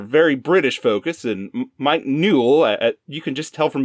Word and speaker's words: Newell: It's directed by Mike Newell, which rhymes with cool.